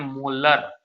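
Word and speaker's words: molar: और 2.5 एम ये जो होता है ना, इसको हम लोग प्रोनाउंसिएशन करते हैं मोलर।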